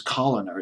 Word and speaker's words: Kalodner: I'll just pronounce it as Coloner. It's Kalodner of Geffen Records.